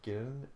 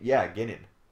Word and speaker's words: Guinan: I would if I had never heard Guinan pronounced, I would probably pronounce it if I just read it Guinan. Or no, or Ginnan? Guinan. Like Irish. Or like Guinness, but with no is.